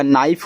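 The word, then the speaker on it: knife: देखो आपका नाइफ हो गया और नाइफ का मतलब चाकू होता है।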